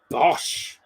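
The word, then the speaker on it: Bosz: And the manager, however you pronounce him, Peter Bosch, B-O-S said is how you pronounce it. Bosch.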